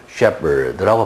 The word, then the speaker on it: Shepard: 거기서 President Shepard가 나와서 이야기를 하는데 Shepard는 PH는 흔히 F로 발음되죠. Photograph, Telephone. 근데 거의 예외적으로 PH가 여기서는 P로 발음됩니다. Shepard라고 발음되죠.